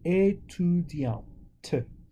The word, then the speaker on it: étudiante: C'est une étudiante. Female, right? So you pronounce that last T.